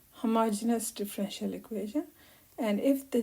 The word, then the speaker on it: homogeneous: So this is a word which can be pronounced in different ways, but I think the correct pronunciation is something like homogeneous.